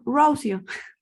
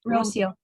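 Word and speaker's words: Rocío: to hear how you say it my name Rosio Rosio um so the question is the I sound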